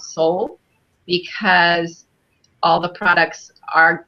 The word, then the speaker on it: Solle: as a company and I know it looks like Soleil like it would be pronounced soleil but really it's it's called soul because all the products